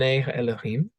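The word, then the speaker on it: אֱלֹהִים: is translating a Hebrew phrase uh which is pronounced Ben Elohim uh simply comes from two words um Ben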